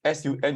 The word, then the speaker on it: Sun: So this S-U-N is pronounced as Sun and not Sun. Because S is pronounced as Si, then U-N is Un, so Sun.